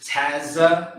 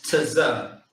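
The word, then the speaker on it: צ: Now, some brother may think that it says Tazza. No, but it's Tza. You say it together, you say it close.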